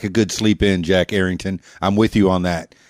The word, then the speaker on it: Errington: It's not Jack Carrington. It's not Jack Harrington. It's Jack Errington of Jack Errington Music.